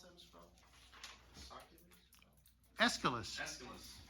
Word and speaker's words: Aeschylus: How do you pronounce that, Mr. Phil? Aeschylus.